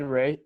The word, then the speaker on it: Reay: My name is Reay, Reay. There's the E is silent in Ray.